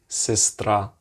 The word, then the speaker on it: сестра: And the good thing is that this S is pronounced pretty much like a S, S, S, as in sestra, sestra.